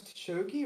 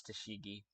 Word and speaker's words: Tashigi: Did they say her name is Tashogi or Tashigi? Okay, sorry. You're right. It is Tashigi.